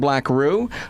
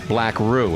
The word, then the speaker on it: BlackRue: talk about it we're hanging with the band black roux uh they've got an ep out that they